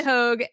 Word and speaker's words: Hoge: because I'm gonna Roan hog rhymes with Rogue okay Rox and hog who is the lovely